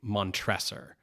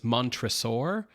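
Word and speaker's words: Montresor: So, I've always pronounced this guy's name Montressor, but in this movie, it's the accent is on the middle syllable. So, it's mantraur or as like dinosaur, right?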